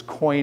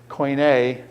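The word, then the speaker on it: koine: of Hellenism was this unified Greek language this coin as they call it Greek language the common coin here's how you spell coin coin um k o i NE e coin a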